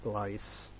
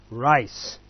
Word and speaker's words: rice: R is it's not lice it's not lice it's rice okay so let's try